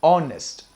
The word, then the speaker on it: honest: not pronounced as honest h is silent here this word is pronounced as honest honest the first sound